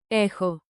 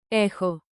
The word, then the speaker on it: έχω: echun pro tip Pronounce chi like a soft k h. Forms with rhythm. Clap lightly and say it with me. Rhythm makes memory sticky. echo I have